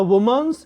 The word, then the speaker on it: women: Most of the women in rural areas are anemic.